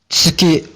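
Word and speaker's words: つき: 발음을 츠 스라고 발음하는데 정확하게 발음하자면 얘네는이 설치음이라 그러죠 이빨 사이로내는 것처럼 그래서 츠기 츠기 츠키 키라고 발음합니다 예 한 역시 표현하는게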